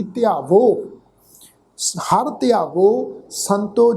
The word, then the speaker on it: ध्यावो: हुण इत्थे पाठ की है जी, ध्यावो धद्दे नूं सिहारी, ऐड़े नूं कन्ना, वावा हाही दी जिहड़ी औंकड़ दी मात्रा है, ये अपने तो पहले अखर ते होड़े दी मात्रा वांगू प्रोनाउंस होएगी। ध्यावो, हर ध्यावो संतो जी,